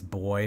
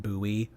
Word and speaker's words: buoy: It's boy, not buoy. I've always pronounced it buoy.